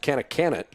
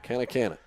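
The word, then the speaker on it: Kanakkanatt: Beg your pardon, number 11's last name is actually pronounced Kanakanat, but it's spelled K-A-N-A-K, K-A-N-A-T-T. It's a tough one there. Kanakanat.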